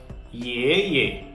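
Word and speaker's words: 爷爷: Okay, so ye ye, ye ye. Okay, notice the difference. Okay, in the first syllable, our voice was rising. Ye. In the second syllable, our voice was neither falling nor rising.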